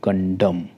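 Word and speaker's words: condemn: होता है निंदा करना यहां पर भी एम के बाद एन है तो ये साइलेंट है एम के बाद एन है सेलेंट है हम खाली एम तक ही इसको प्रोनाउंस करेंगे कंडम ठीक है अगर आपको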